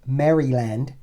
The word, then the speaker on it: Maryland: I know I know some I know the pronunciation police are out there from the University of Maryland okay I'm from Maryland we say Maryland uh